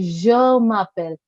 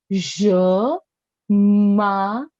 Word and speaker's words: je m'appelle: How will you say je m'appelle? Je, je. Okay? Look at how my mouth is making that sound. Je m'appelle.